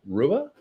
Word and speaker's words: Rua: Well, how do you say Mauricio Shogun Rua, or is it Hua? It is Hua for sure.